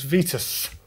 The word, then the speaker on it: Vitus: uh and where does Vitus or Vitus however you're pronouncing it um bike originate it was from sen Etienne in France uh and the name was originally pronounced vitu uh Irishman Sean uh